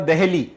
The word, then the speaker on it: Dehli: या दिल्ली है उसको इब्न बतूता प्रोनाउंस करता था दहली, ठीक है जी, ध्यान से देखिएगा, DELHI नहीं लिखा हुआ है, वो क्या लिख रहा है, वो लिख रहा है DEHLI, तो दहली ना बोल के देहली बोल रहा है।